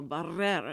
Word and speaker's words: Barrera: I'd always say her name, Elma Barrera, and I'd roll the R's, and the deaf thought Houston's that was so first funny.